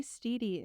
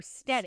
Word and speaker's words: Steddie: You're the only person I know that says it like that, but you can say it like that if you want. It's Steedy or Steady? Steady, but you say Steedy.